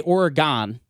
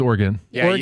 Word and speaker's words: Oregon: alone in that at least I don't say Oregon no it's Oregon yeah Brian Chapman does that oh we're going